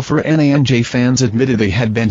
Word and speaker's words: Fernandes: His name is pronounced as Bruno Mig-el. Fer-nanj fans admitted they had